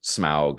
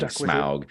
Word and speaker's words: Smaug: First, the archers with Bard when he kills Smaug, and then later when the soldiers are marching in the battle of the five armies.